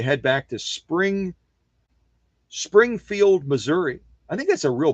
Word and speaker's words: Missouri: Springfield Missouri is Springfield Missouri for those of you that don't know how to say the state correctly Springfield Missouri or Missouri